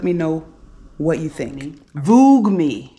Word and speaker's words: Voogueme: Voogueme. I guess that's how you say it. Vogue, V-O-O-G-U-E, me. It kind of wants to be Vogue, but it's kind of not.